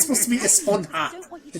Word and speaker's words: Esponja: Actually, it's pronounced Esponja with an H sound. at the It end. is. Oh, That's how it's supposed to be. But we've all been saying Esponja.